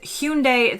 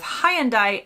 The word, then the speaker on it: Hyundai: say it this way if the actual pronunciation is Hundai then both the Brits were wrong with Hyandai and the Americans Hyundai is also off but I haven't seen